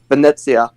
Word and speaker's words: Venezia: moan and JoJo's about how people pronounced Venice Venice when it's I believe um Venezia Venezia thank you yeah